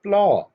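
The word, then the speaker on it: plough: इसकी इंग्लिश है प्लॉ, यहाँ पर UGH साइलेंट है, लॉ इसकी है एक्चुअल प्रोनाउंसिएशन।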